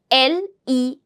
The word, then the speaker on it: les: this is a pattern when you put l e s together it is to be pronounced as Le that means e s is going to be silent s is going to